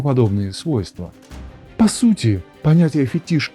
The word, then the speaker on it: фетиш: Слово «фетиш» произносится именно так.